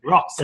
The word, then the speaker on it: Roxon: I think he's got his name wrong. Roxon. Roxon.